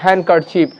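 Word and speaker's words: handkerchief: একইভাবে যেটা আমরা এখানে একটা ডি এর একটা চার্ট দিয়ে দিয়েছি, এখানে আমরা হ্যান্ডকারচিপ বলবো না, ডিটা সাইলেন্ট আছে তাই হ্যান্ডকারচিপ, the right pronunciation is হ্যান্ডকারচিপ, নট জাজ, জাজ, জাজ,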